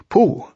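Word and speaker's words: P'u: to in various ways poo by the way is pronounced sort of like poo but without so much ooh like the sound you make when blowing a bug off your arm on a hot summer day before we bring our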